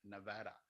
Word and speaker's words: Nevada: first went to nevada i've learned to say nevada so when you hear me say nevada nevada nevada that's just so you know that's